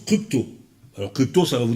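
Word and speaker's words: κρύπτω: qu'il a c'est le verbe qui qui se prononce crypto alors crypto ça va vous dire quelque chose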